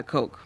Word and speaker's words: Koch: Koch, is that how you say it? Yeah, Coke.